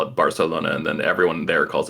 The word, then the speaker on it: Barcelona: King is it really barthelona yeah they they pronounce like every C or S they pronounce like with a with a lith oh that's how they